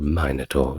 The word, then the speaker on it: Minotaur: and Theseus who defeated the Minotaur, or Minotaur, depending on how you want to pronounce it.